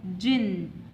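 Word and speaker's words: djinn: It pronounced as jinn. D is silent letter.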